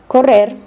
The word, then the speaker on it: correr: To pronounce the double R sound properly, English speakers need to learn to trill your R's. Try making a purring sound like a cat. Feel your tongue vibrate. Rrr, rrr. Correr, barrer, cerrar.